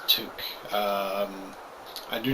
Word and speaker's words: toque: right here it's pronounced took i know it's not spelled toque but it's pronounced took um i do not